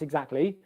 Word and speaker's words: exactly: don't have to pronounce exactly um it is an e stand at the beginning and then you go into a g sound egg egg egg egg egg so a bit like excuse me this time we're starting